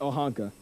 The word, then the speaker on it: Oaxaca: That's how it's spelled, and then it's pronounced Oaxaca.